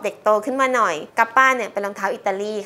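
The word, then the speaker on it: Kappa: อ่ะ คือ อัน นี้ มัน เขียน ka จะ เป็น ta ใช่ ไหม คะ เรา ก็ อ่าน ว่า รอง เท้า กับ ค่ะ เหมือน เป็น สัตว์ ญี่ปุ่น รหัส ญี่ปุ่น ปรากฏ ว่า จริง ไม่ ใช่ ค่ะ อ่าน ว่า กับ ป้า นะ คะ เป็น รอง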